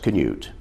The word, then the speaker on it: Cnut: across the river lily the spelling cnut is scandinavian and it is pronounced canute as you can see